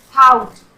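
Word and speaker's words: thought: और थाउट, थाउट में भी जी एच का साउंड नहीं हो रहा।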